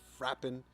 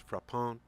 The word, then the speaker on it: Frapin: And here today I have Frapin or Frappin. I'm pretty sure that's exactly how you're not supposed to pronounce it. I believe it's Frapin cognac.